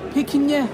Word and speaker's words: Pequignet: How do you pronounce it, sorry? Pequignet.